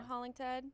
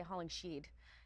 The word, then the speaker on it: Hollingshead: Ryan Hollingshead? Yep. I don't want to say Hollingsheed because that's what I keep seeing on my paper.